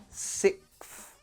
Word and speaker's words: sixth: This is how you will hear everyone pronounce this in real life. However, you want me to teach you how to pronounce it with the X, which is fine. Let's do it. The thing you need to practice is going from S to F.